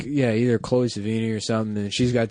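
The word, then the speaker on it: Sevigny: like a small town like Chloe Ceini I think or which I'd say her name wrong. Adam corrected me on that and I was pissed off cuz obviously it was Chloe Sini.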